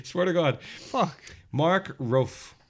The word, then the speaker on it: Rofe: Mark Rofe, I think it's pronounced that, R-O-F-E, took the drastic measure after becoming fed up with online dating and seeing all his close friends get married.